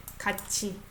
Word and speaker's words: 같이: I don't pronounce it as 같이. This is CH sound. Okay? 같이.